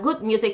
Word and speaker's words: GHUD Music: Their Good Music is spelled GHUD Music, so Good Music.